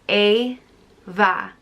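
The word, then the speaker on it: Éabha: life and is pronounced a va eva like the english name eva but it's not the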